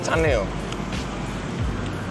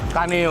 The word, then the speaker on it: Kaneo: Ini bacanya Kaneo apa Caneo? Apa? Kaneo ternyata.